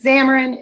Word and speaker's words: Xamarin: feature coming here is xamarin X am a are and xamarin it is pronounced like a Z in the beginning but it starts with an X and that is really